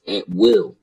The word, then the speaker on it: Atwell: the uh a saying that saying is actually pronounced at will and it's a British